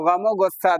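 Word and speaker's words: ग़म-ओ-ग़ुस्सा: उर्दू का रूल है, कवायद बताता है कि वाव को हम लोग साइलेंट, वाव को हम लोग मिला देते हैं दूसरे वाले वर्ड के साथ। तो गमो गुस्सा देखो लिखा हुआ कैसा है, आक्रोश।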